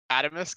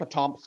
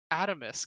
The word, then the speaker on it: Atomisk: remember uh uh spot how do you say the name that bison had chosen adamusk atomisk okay i was like saying it wrong in my head oh my god i was going with atomic yeah me too i